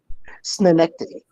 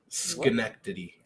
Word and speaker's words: Schenectady: already but it was i probably would have butchered that snow nectity connecticut adjacent that i i've heard how it's supposed to be said by y'all schenectady i've heard this connectivity